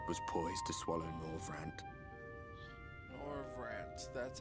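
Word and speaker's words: Norvrandt: Norvrant, that's how you say it.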